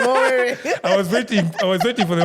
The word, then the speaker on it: Owere: That is the third name, Owere.